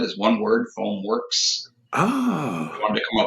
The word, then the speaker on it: FoamWerks: it is that's right foam works w-e-r-k-s is how we spell it is one word foam works ah I wanted to